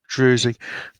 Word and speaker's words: druzy: Druzy. Druzy, it depends where you come from. If you're British, you would spell it Drusy, or in America, Druzy, and I won't pronounce it anything other than a Z.